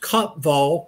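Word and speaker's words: Kaapvaal: european languages but uh afrikaans i think it's pronounced copval craton and that's one of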